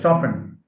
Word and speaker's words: soften: a suffix soften yeah soft has a t as a phoneme but soften has a silent t so it says soften now soften is to